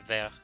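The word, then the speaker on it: Verre: I will not call it Veer, I will call it Ver instead, or like Ver. Ver like that. You can pronounce it like that if you want. Because Veer for me is going to be the Cyber Dragon card, actually.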